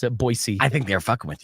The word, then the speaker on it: Boise: I just can't believe Spears hasn't played, 18 holes down at Warm Springs in Boise, Idaho.